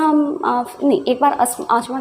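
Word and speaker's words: asthma: अस्थमा, आसमा जो भी बहुत लोग अस्थमा कहते हैं, वैसे होता है आसमा, क्योंकि इसमें जो टी होता है ना वो साइलेंट होता है, बट यू can called अस्थमा, आसमा anything, ठीक है ना।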